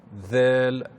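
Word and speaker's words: ذال: il faut mettre le bout de la langue sur l'extrémité des incisives supérieures. Dhal. Si on met une fatha, on dira dha, avec une dhamma, dhu, et avec une kasra, dhi.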